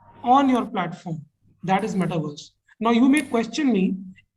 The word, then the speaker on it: metaverse: is coming up is metaverse. Now, I would like you to hold on to this term in a very simplistic manner and consider this like a universe. Metaverse rhymes with universe, so it's like a